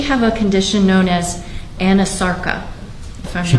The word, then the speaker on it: anasarca: examiner, did she have a condition known as anasarca? If I'm She not did. mispronouncing it. No, you're pronouncing correctly. She did have a condition called anasarca.